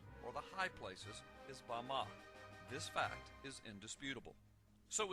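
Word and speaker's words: במה: Strong's Hebrew dictionary and it is pronounced Bama Bama is most commonly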